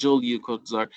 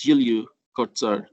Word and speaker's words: Julio Cortázar: So his real name is not Julio Cortázar, it's Julio Cortázar. So the J is pronounced here yeah sound.